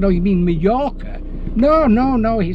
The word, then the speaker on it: Mallorca: I said, "Oh, you mean Mallorca?" "No, no, no." He said, "Majorca." I said, "No, it's Mallorca, mate." I said, "You don't pronounce the J, it's silent, it's Mallorca."